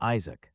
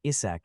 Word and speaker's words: Isaac: My name is Isaac, not Isach as you keep saying.